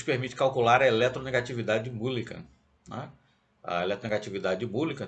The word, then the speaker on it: Mulliken: Isso aí é Mulliken, algo assim a pronúncia com MU, né? Começa com MU, não é Millikan, tá certo?